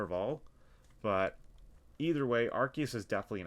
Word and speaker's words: Arceus: for them it's arceus i thought it was arceus when i was a kid but it's actually pronounced arceus so for anybody watching it's arceus but i'm not going to tell you how